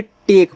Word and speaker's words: take: पढ़ा था, अब यहाँ TAKE है तो क्या पढ़ोगे, टेक पढ़ोगे, यानी कि टी से टा, यहाँ ए का उच्चारण ए की मात्रा और के से का, और किनारे वाला ई का उच्चारण करोगे नहीं।